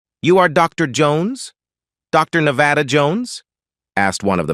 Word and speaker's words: Nevada: "No, and I use the English pronunciation, Nevada.